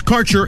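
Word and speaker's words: Kaercher: Quality cannabis Insurance Services is spelled k a e r c h e r that's carer insurance we have worked with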